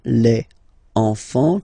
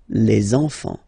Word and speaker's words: enfants: Don't pronounce the T, you don't pronounce the S. Enfant, okay? And now we can focus on the liaison here. So you should make the little link. Les enfants.